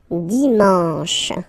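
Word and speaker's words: dimanche: and the last one Dion Dion you get sh sh and then a n Deon okay let's see them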